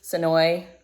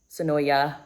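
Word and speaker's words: Senoia: so if you're local to sooi sooya depends on where you live how you say it um It's Where The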